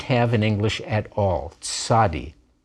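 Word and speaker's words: צ: end of a word not hard to pronounce you say it like the combination ts in english don't be fooled you will often see it translated into transliterated into english as a z but in hebrew it's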